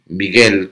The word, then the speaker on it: Michael: Eh, Michael Crondeli ou mellor dito higuel Crondeli porque a pronunciación a nese é algo así como Miguel, unha cousa máis parecida a Miguel que a Michael.